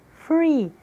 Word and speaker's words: free: Se pronuncia com som de F, de faca, fada, do português. Free, nós utilizamos os dentes superiores e o lábio inferior.